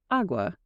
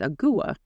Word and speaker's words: agua: Uh, some might pronounce it more like awa. I think that's how I said it, which is the Spanish word for water, right? Um, it's awa.